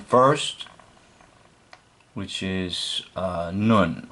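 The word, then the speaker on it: נ: This letter form has the sound of N, as in now.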